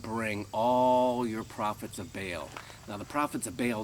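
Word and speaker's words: Baal: bail excuse me bail some people pronounce it ball but I'm gonna pronounce it bail Elijah says to them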